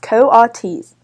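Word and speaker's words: coatis: pigs or raccooni dogs these are Coates Miss brisban said reading from the letter pronounced Coates the Coates looked weird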